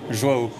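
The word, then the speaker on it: João: Joao Souza, attention, prononciation. Joao.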